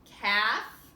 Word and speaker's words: calf: Down here you have silent L's. Calf, chalk, and half.